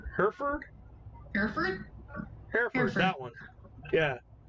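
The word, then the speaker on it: Hereford: uh hairer uh how the hell do you pronounce that it's a breed of cattle Herford Herford Herford Herford that one yeah uh it's one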